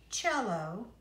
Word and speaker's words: cello: o L a plus cello it rhymes with jello cell-22 yours looks like